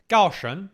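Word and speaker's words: Gaoshun: Gaoshan, that's actually the Chinese proper pronunciation.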